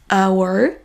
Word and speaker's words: hour: Il existe malgré tout quelques rares exceptions, comme les mots hour, honest, honor. Beaucoup de Français vont oublier